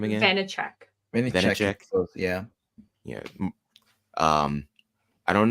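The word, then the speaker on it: Vaníček: Vanacek.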